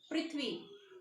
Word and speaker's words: पृथ्वी: व हलन जमा ई, तो उच्चारण भी चेंज हो जाएगा, पृथ्वी नहीं कहेंगे, पृथ्वी, पृथ्वी, ओके, ठीक है ना।